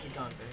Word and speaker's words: Gigante: Make E silent, because you know. Gigante. Okay. That pronunciation is weird, but okay. Spanish for big.